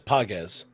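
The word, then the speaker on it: Pages: But you did mispronounce it. PZ. Sorry, Andy Pogz.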